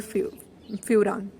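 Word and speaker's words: furan: तो फ्यूरेन, इसे यूं याद रखें कि F फॉर 5, F फॉर फ्यूरान, ठीक है। तो ये फ्यूरेन, फ्यूरान, कोई भी इसकी प्रोनाउंसिएशन हो सकती है, वो रिंग है।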